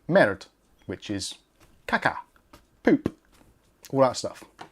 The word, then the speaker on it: merde: And the reason it was not called the MR2 in France or French is because if you pronounce MR2 in French, it sounds like merde, which is caca, poop, all that stuff.